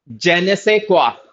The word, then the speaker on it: je ne sais quoi: This word इज जेने से क्वा. This इज silent. ये क्वा. सो जेने से क्वा.